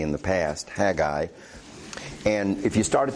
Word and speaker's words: Haggai: your old testament to the prophecy of Haggai Haggai is the correct pronunciation I don't think I've always pronounced it correctly in the past Haggai and if you start at the end of